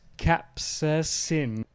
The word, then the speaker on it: capsaicin: Oh, and it's pronounced capsaicin.